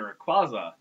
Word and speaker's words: Rayquaza: It's Rayquaza. It's Quaza. Quaza. Quaza. Quaza. How do you pronounce it? That's how you pronounce Rayquaza. Rayquaza.